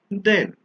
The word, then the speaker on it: then: is taller than so th a is pronounced than and t e is pronounced then we use then when